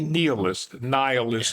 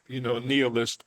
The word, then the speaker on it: nihilist: And, even a Kurt Vonnegut, who's but any nihilist, as Americans say, but I'm Latin trained, nihilist.